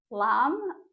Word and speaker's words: Lam: And then we'll also be chanting the bija mantra for the root chakra, which is Lam, L-A-M, but it's pronounced L-U-M.